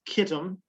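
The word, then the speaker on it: Kittim: it's certainly here in isaiah 23 and in ezekiel the term kitten we see it spelled sometimes with a ch um but it's still pronounced kittem uh generally speaking it's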